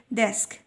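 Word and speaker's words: desk: تمام، هتنطق كل حرف زي ما هو عادي جدا، بس تفتح الايه في النطق، ما تقوليش ديسك، لا ما تكسرهاش قوي كده، بنفتحها شويه في النطق لانها ما بين حرفين ساكنين، فبنقول ديسك ديسك ديسك.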